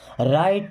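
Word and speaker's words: right: क्या आपको भरोसा है राइट नाउ देखिए यहां पर जी साइलेंट है बताया था आपको राइट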